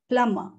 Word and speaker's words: plumber: the correct pronunciation is plummer plummer here if you see b is silent b is silent no need to say